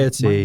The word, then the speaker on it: Arietty: Mine Ariety. was that. Ariety, boy. All right. Ariety? Variety? Okay, it's spelled Arietty.